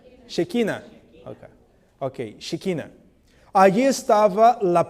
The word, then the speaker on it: Shekinah: Yo siempre pronuncio mal en español, que en portugués se dice Shekinah. ¿Cómo es en español? Shekinah.